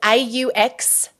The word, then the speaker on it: Auxano: Nope, it is Auxano, AUXANO.global. Oh, that's right. So you have a business name. I forgot We have a business name, yeah. How do you spell that again? It is AUXANO. It's pronounced Auxano, and it's a Greek biblical word